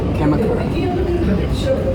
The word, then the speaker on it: Kamakura: Kamakura.